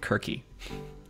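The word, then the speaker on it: Circe: on this channel before in Greek Kirky because with kappa's but yeah mythology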